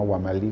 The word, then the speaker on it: Huamalí: Mi padre es una persona que es provinciano, nació en un pueblo de Junín, cerca de Jauja, que se llama Huamalí, con H y acento en la I final.